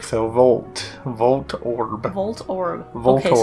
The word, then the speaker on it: Voltorb: Voltorb. Voltorb. It's not a creative name. I don't know where the R goes. He's an orb, and he's electric, so Volt Orb.